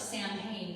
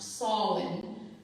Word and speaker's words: Samhain: It looks like Samhain, but it's pronounced Samhain.